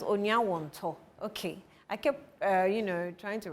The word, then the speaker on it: Onuawonto: This name, when he comes, I think you should tell me how it's pronounced. Onuawonto. It's it's Onuawonto. Okay, my producer says Onuawonto.